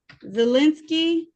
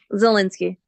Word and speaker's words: Zelinsky: Zelinsky, how you pronounce it? Zelensky. Zelensky, oh, okay.